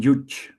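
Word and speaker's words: yuj: yoga means connection from yuch Y the Y is pronounced Y. The J here is pronounced the J.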